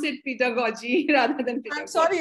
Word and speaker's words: pedagogy: Second, so funny that two G's in the same word, one is pronounced as G and the other is pronounced as J.